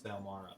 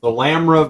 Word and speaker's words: Thalamra: I've been saying her name wrong. I thought it was Thalmara, but it's Thalamra Van Thamper.